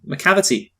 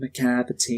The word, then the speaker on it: Macavity: yeah I'm a cavity macavity see I want to point out that they they really got a lot of mileage out of the fact that Macavity name rhymes with depravity yes they do we